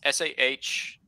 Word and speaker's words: Sahuagin: How do you pronounce that lizard name? Sahagun? Sahagun. It's Sahuagin.